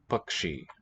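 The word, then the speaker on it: पक्षी: We transliterate it with a K and a subscript dot sha for the retroflex. Ksha. Bakshi. But it wasn't really pronounced that way across all of ancient India at all times. There were many other variants too, pronunciations for this cluster letter, Bakshi.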